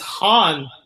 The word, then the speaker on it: Han: And Han's like, my name is Han. It's pronounced Han.